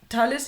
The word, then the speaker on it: Thales: It's just it's pronounced so differently. Talis.